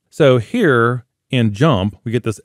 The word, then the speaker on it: JMP: So JMP, we pronounce it JMP, and it's actually from SAS.